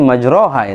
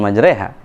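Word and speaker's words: مجراها: Aslinya majroha itu, bukan majreha. Majroha. Cuma pelafalannya ada sebagian imam mengucapkan kata itu dengan majreha.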